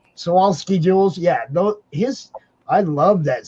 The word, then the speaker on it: Swarovski: What are the Krosnovsky jewels? I never say it right, but Swarovski jewels.